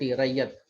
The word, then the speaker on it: Ryot: रैयत कहा जाता था, रैयत। इंग्लिश में RYOT, ये स्पेलिंग है, RYOT, रैयत।